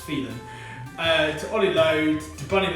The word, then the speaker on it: Filan: The Filans have become infamous in these 12 weeks. So even other people are now referring them to them as Filan, even though it's pronounced Phelan.